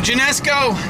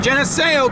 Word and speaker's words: Geneseo: my uh oh your genesco headed right for genesco in Geneseo Kansas said it right for Geneseo Kansas extremely